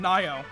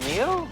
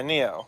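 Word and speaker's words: Nioh: Nio. Oh yeah. Was it? I think it's pronounced Neo. The N-I-O-H. Yeah. Yeah, Neo.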